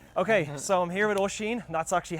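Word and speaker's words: Oisin: So, I'm here with Oshin. That's actually how you pronounce his name. It's not Ocean or whatever. It's Oshin.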